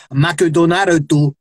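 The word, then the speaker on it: マクドナルド: in the syllable and that is why macho donaro mcdonald is the is the way you say mcdonald's because you've got to have ma syllables for mcdonald's wow because of how japanese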